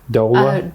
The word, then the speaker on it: doula: Circling back to the doula. Am I pronouncing correctly? Doula.